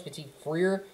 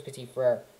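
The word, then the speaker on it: Petit-Frere: think could be nicholas petite freer could be a really good pickup i always say his name wrong i know it's nicholas petit freyr but i i can't do it nicholas petite freer right by the way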